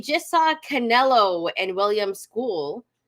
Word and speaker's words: Scull: We just saw Canelo and William School. That's how they were pronouncing it, not Skull. I guess you could pronounce that. I guess it's pronounced like that if you're in North America.